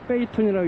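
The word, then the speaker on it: 北屯: 저는 지금 베이툰에 있습니다. 한자로 북둔이라고 쓰지만 읽는 건 베이툰이라고 읽습니다.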